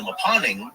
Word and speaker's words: Mponeng: The deepest mine in the world is the Maponing gold mine in South Africa, and that is spelled Mponeng.